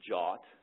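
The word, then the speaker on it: JWT: the use of JW Json web token which by the way it's pronounced jot uh to to format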